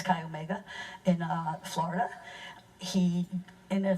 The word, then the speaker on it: Chi Omega: in Chi Omega and I said chai Omega the other day and I was that's wrong I just mispronounced it it's guy Omega in Florida he in